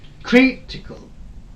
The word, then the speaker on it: critical: there's another word critical the word ending with a l okay the third from and the syllable which is third from end is kri this one so this will be suppressed here okay it is this one critical critical critical okay if i break